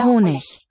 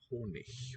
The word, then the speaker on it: Honig: One of the ways to pronounce the final G is with a ich, where the sound is produced just by the friction of that slender space in the mouth. Der Honig. Some dialects may pronounce the final G as a k.